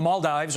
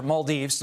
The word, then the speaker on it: Maldives: Meantime, NASA slamming China after that rocket debris landed near the Maldives, or Maldives, depending upon how you say it, for failing to meet responsible standards.